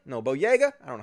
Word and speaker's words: Boyega: are angry as with john bodega no boyega i don't know how you pronounce his name john boyega because he posted